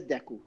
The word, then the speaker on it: Deku: It is Deku.